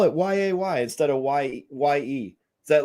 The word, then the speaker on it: Ye: of like antonio yay is ye what oh she's pronounced yay oh my god how